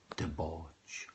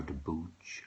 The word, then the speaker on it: debouch: Debauch or debouch are acceptable pronunciations.